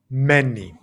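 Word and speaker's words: μένει: So that would be many. Many. So we said we change the O sound from meno to an e sound to refer back to he, she, it.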